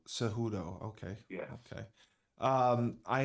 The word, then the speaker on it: Cejudo: back from retirement how do you say it seudo cejudo okay yeah okay um I have not been